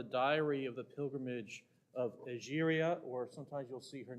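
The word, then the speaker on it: Egeria: This is from the diary of the pilgrimage of Algeria, or sometimes you'll see her name spelled and pronounced Etheria.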